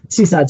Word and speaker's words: SEHSD: Seaside's our division, if you're wondering what that acronym is. And yes, we pronounce it Seaside, SEHSD.